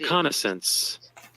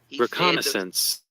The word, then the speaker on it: reconnaissance: S a n c e okay correct the pronunciation but hold up she say it like this reconnaissance reconnaissance that is reconnaissance under your own it's under